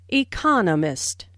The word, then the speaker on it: economist: so It is emphasized there are four syllables in Economist with the stress on the second syllable Economist he just finished Writing